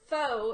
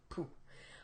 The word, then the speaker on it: pho: they have fun or as pho as I like to call it here in Southeast Tennessee but we all know that's not pronounced correctly and you can get really